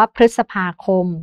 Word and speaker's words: พฤษภาคม: รึ ไทย ฤดู นะ คะ หรือ คำ ว่า พฤษภาคม นะ คะ พฤศจิกายน เหล่า นี้ ก็ อาจ จะ